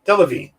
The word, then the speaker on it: Delevingne: murderific building on the upper west side cara delevingne thank you delevine there we go it's just got a lot